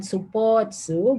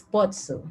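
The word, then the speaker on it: スポーツ: Okay, and this one is not supotsu, but it should be pronounced as spotsu, spotsu, devocalizing the u sound.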